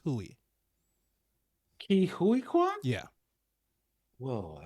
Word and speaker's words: Huy: He said it's Huey.